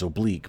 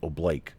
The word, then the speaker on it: oblique: by the way so it's pronounced by by human beings as oblique but the military calls it oblake for some strange reason